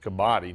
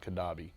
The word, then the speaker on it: Kabaddi: is I'm sorry I mispronounced a Kabaddi not qaddafi mmm Kabaddi World Cup